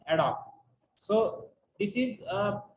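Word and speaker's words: ad hoc: the requirement adopt plants a d h o c means adopt pronunciation is adopt so this is uh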